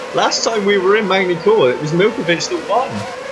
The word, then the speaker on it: Magny-Cours: Yeah, last time we were in Magny-Cours, it was Milkovic that won. Did you call it Magny-Cours? It's Magny-Cours. Yes, I did call it Magny-Cours because I'm British and that's how it's spelled.